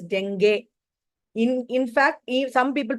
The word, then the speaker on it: dengue: We all call it in India as dengue. The actual pronunciation is dengue.